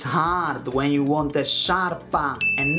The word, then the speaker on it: sciarpa: I know, my English-speaking friends, life is hard when you want a sciarpa and not a scarpa.